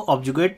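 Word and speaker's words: objurgate: अगले वर्ड पे आगे बढ़ते हैं, लिखा हुआ है ऑब्जुगेट, इसको ऑब्जुगेट पढ़ेंगे, आर यहाँ पे साइलेंट रहता है।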